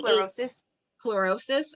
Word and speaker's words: chlorosis: anemia which is uh chlorosis or how do you pronounce that Dre Clos closis it's C closis chlorosis okay so this basically